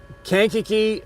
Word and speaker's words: Kankakee: So, Kankakee, Illinois, I think that's how you pronounce it, Kankakee Tank Wash, you're going to get thrown under the bus.